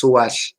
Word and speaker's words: sowal: these words, Siwal and Sowal, which is actually pronounced Suwal, with the O being more between a U and a O.